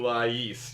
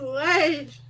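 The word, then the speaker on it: Lay's: How the hell can you compare Honey Buddha to Lais chips? Lays. It's pronounced Lays.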